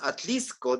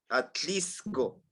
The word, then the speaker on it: Atlixco: llama Atlixco que es Atlixco dicen Atlixco la x lo utilizan como este Francisco y se escribe así